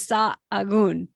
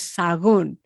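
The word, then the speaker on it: Sahagún: let's hear it okay that was sa Aon no it was sagon sagon sagon okay hardest word on the Camino okay now we're gonna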